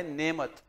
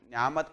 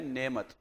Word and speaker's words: نعمت: پیارے بچوں, اس لفظ کی جو اس کا جو تلفظ ہے وہ ہے نعمت. اور اکثر ہم لوگ دیکھتے ہیں ہمارے بچے نعمت پڑھتے ہیں یا نعمت پڑھتے ہیں. صحیح تلفظ ہم پڑھ رہے ہیں نعمت.